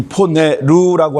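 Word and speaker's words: πονηροῦ: 포네루 이렇게 되어 있습니다.이 이 포네 루라고 할 때 마지막이 악을 읽을 때는 루의 액센트가 있습니다. 포네루라고 읽어야 합니다.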